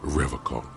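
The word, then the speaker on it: Revachol: strong for rev hall he pronounces revlon with a hard k unlike other people serious question time this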